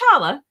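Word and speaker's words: challah: Melanie my beautiful and tasty luses it is pronounced charala Jewish bread what are you reading right now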